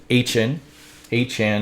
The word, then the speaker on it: Etienne: And on top of that, they brought in Travis Etienne, which is apparently Hn or something, same as Devon Hn, just spelt differently.